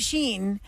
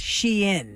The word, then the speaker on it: Shein: call it Sheen, and two of our callers called it Sheen when they got misdelivered Sheen. Okay. But according to this, we are all saying it wrong. It is officially, and I think we mentioned it once before, but it didn't stick. Okay. It's Shein. Yeah, I've been Shein? saying that since the beginning I've been because saying it too, yeah. it's like Shein. she's in with the fashion.